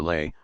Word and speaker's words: Lei: called the lay or lay pronounced like our word lie in the rine and